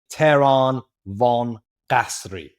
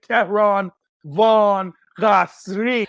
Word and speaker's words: Tehran Von Ghasri: And that is the one and only Tehran Von Ghasri. Did I do you justice in terms of the You did it pronunciation?